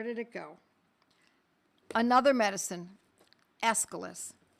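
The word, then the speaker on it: Aesculus: Another medicine, escalis. It's spelled a Essis.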